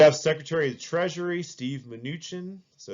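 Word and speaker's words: Mnuchin: supportive publicly you have Secretary of Treasury Steve minuchin so it's pronounced minuchin and yeah he's he is a good-looking guy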